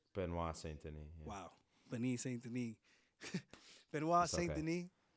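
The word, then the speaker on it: Benoît Saint-Denis: um BSD fight um Ben ston right that's how you say his name benois ston wow Ben ston benois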